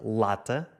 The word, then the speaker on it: lata: Já a palavra portuguesa lata escreve-se quase da mesma forma que leite, mas a pronúncia é diferente.